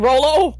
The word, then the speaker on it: Rolo: really like Rolo. I keep saying Rello because I have a tiefling wizard named Rello. Ah, That's why I keep mispronouncing it by accident.